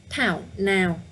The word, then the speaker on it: Thảo nào: to pronounce it correctly the first word in is town now town now so you can see first of all focus on the th okay it's not town now can you hear the